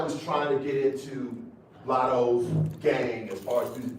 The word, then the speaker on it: Latto: Lotto. Thank you. How do you do that? How do you say that? Cause Lotto my baby.